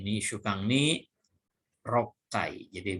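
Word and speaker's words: 六回: Kemudian nomor 4, ini shukan ni rokai. Jadi bacanya rokai, roku dengan kai, ya.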